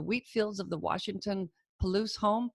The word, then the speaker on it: Palouse: now calls the wheat fields of the Washington Palouse home Palouse ty said it right yeah with her husband